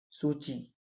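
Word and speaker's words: Suu Kyi: ंग सान स की इसको प्रोनाउंस हम लोग करते हैं सूची सूची ही लिख देते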